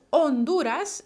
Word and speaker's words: Honduras: habla castellano luego tenemos honduras y aquí esta palabra se escribe como una h y recuerden la h siempre es muda méxico gméxico después volvemos